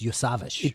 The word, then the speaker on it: Iosivas: It's Iosivas.